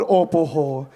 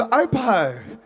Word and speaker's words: Ōpoho: I don't know if you've heard of Mary from Ōpoho, who refused to pronounce her hometown properly, called Ōpoho. She calls it Opo.